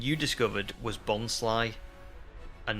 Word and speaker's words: Bonsly: Um, Ariel says the one pronunciation you discovered was bonsly and not bonsley cuz it's like a bons bonsai tree. Yeah. Yeah. Yeah. It's a bonsai and it's a bit sly.